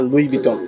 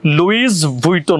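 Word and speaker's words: Louis Vuitton: আপনার মাথায় ঠিক নাই এটা লেখা আছে এল ও ইউ আই এস লুইস ভুইটন হবে এটা হচ্ছে একজনের নাম যখন হচ্ছে আপনি একসাথে বলবেন তখন হচ্ছে লুই বিটনই বলে তাহলে আমি যে এতদিন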